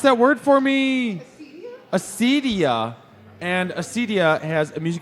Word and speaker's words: Acedia: Nikki, pronounce that word for me. Acedia.